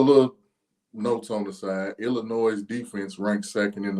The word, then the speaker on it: Illinois: was that I team Illinois okay you said it right this time you said it with a s a second ago Illinois yep what the hell is the damn difference it's not Illinois you know you got to